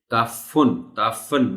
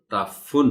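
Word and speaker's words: تعفّن: خیال رکھا جانا چاہیے۔ فے کے اوپر شد کے ساتھ پیش ہے۔ تعفن نہیں کہتے اس کو، تعفن بولنا ہے۔ خشک، یہ پھر بار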